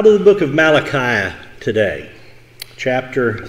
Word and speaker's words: Malachi: By the way, that's not pronounced Malachi, if you didn't know. Just wanted to make sure you're aware of that. It's Malachi.